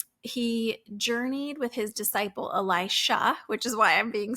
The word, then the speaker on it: Elisha: difference in these names and Elisha is an sh at the end instead of a Jah so Elisha this disciple or student